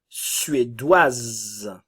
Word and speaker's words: suédoise: avons le son W suédoise nous avons le son et le S se prononce le E ne se